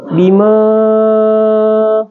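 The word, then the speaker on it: بِمَا: ada yang seperti ini, hukum tajwid cara membacanya itu dibaca panjang 2-5 harakat, ya. 2-5 harakat. Jadi bisa 2 bisa 5. Jadi contoh membacanya bima, ya, atau 5 ketukang, ya, atau 5 alif, ya.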